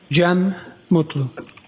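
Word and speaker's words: Cem Mutlu: I also spell it with a G. GM. And can you state your name for us, sir? Jee Mutlu.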